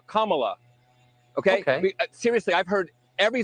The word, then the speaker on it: Kamala: um hosts on Fox her name is pronounced comma like the punctuation mark La Kamala okay seriously I've heard